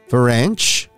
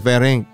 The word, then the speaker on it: Ferenc: napangiti na lamang ako sa pronounciation niya ng pangalan ko tulad ng salitang French tumango naman ako bilang tugon Oo Ako nga to si ferring wika ko naman sa kanya using the correct pronunciation ang pangalan ko teka